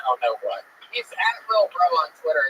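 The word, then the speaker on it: Lil Brough: He spells bro with 3 silent letters at the end. Lil Bro.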